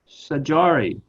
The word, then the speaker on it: Saydjari: field and his recent book so welcome sajari did i get your name pronounced right or pretty close say dream that's